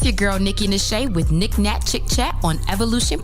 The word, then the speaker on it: Nashay: It's spelled like niche, but the Nashay is for finesse.